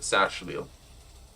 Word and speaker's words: Saxhleel: Saxhleel, so it's Sashleel? Oh, okay. So that it's essentially pronounced that Sashleel.